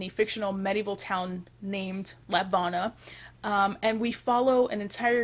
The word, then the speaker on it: Lapvona: on Tuesday, June 21st, and that is Lapvona, I'm not entirely sure. And honestly, up till like yesterday, I've always pronounced it Lapnova.